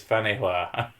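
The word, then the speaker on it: Featherstonehaugh: Weirdest pronunciation in England, Featherston, pronounced as Fanihua.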